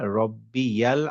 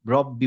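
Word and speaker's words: رَبِّي: রব্বি দেখেন আমরা বলি রব্বি বলতে হবে তাহলে আমরা রাব্বি বলবো না বলব রব্বি রব্বি আবার দেখেন এখানে ইয়ার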